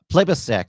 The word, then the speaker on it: Plibersek: Plibersek, that's how you pronounce it.